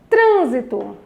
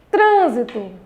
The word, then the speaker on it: trânsito: Trânsito. Trânsito. Qual é a sílaba tônica? Tran.